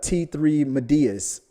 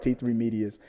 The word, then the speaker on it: T3 Medias: get the name wrong he would always call it uh t3 medeas it was so funny and i think the last time i sent something in he finally said it right t3 medias he finally said it